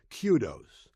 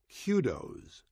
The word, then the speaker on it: kudos: singular noun meaning praise and it is properly pronounced Kudos there is also a plural form spelled the same but pronounced Kudos please stop telling me so and so picked